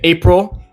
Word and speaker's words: April: However, technically speaking, it is mostly pronounced April, which is not quite So, you kind of like are not quite saying the i sound, it's more of like a an a sound, April.